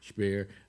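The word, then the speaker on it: Speer: on eichmann guring uh spear or spear actually sounds pronounced spear uh uh who was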